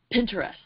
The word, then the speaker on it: Pinterest: do you say it Pinterest pin oh like interest interest interest with a pen so you're the idea